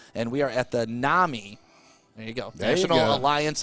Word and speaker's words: NAMI: uh the domain name it's like namini yes so like it's like you just glanced quickly you can't say it wrong but as stick said it is nami and it does stand